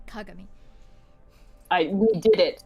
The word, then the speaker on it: Kagami: Or as you should actually pronounce it, Kagami.